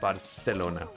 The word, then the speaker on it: Barcelona: Um, actually, we only pronounce the C's and Z's with the lisp. So, Espa is actually still just Espa, but Barcelona is indeed Barcelona because it's spelled with a C.